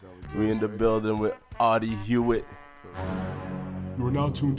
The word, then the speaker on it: Audie: So the correct pronunciation is Audie.